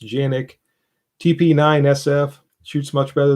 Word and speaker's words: Canik: Rider 54 recently acquired a Canik, which I guess is actually pronounced Janik.